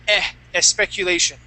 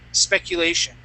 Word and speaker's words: speculation: read the word speculation you said eh a speculation okay you did that twice on specific and on speculation okay but other times you did not your your your uh your s's were were great okay but it was just on those two words so maybe with an SP where you you might run into uh an issue saying s speculation or s specifically okay so watch your s sounds there um and one